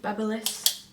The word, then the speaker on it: BaByliss: a fringy thing and then I use the BaByliss that's how you say it um basically like